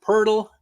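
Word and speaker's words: Poeltl: have your guesses um nba wordle is called purdle rhymes with turtle uh if you haven't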